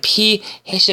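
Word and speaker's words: p̂: 위에다가 이 꺽쇠 뵈었습니다 p 이렇게 쓰는데 이거 때는 p 해시 라고 읽습니다 어차피 헤세 수확 그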